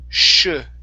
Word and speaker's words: sugar: Okay, now this S here at the beginning, that is pronounced sugar. Sugar. One more time. Instead of shu, it's sugar. Sugar.